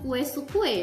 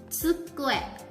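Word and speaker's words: 机: Hai, pengucapannya bukan sukue ya, tapi tsu. Tsukue. Tsukue. Tsukue. Hai, TSU dibaca tsu, bukan su.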